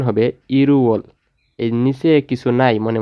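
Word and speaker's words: 일월: এই যে রিউলটা আছে ওইটা এই ইয়ংয়ের স্থানে চলে যাবে, আর এটার উচ্চারণ হবে ইরুওল। রিউল বাচিমের পরে যদি ইয়ং থাকে তাহলে রিউলটা ইয়ংয়ের স্থানে চলে যাবে, আর এটার উচ্চারণ হবে ইরুওল।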